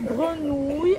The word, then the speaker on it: grenouilles: sont là l'erreur alors s'il vous plaît ces grenouilles en arrondissant la bouche et et ont trahi